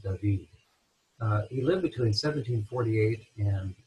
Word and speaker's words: David: The last name looks like David, but it's correctly pronounced David.